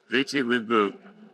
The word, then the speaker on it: Viti Levu: We're here on the main island of Viti Levu Did I pronounce that right? That's right Viti Levu And we're gonna do some diving today Alex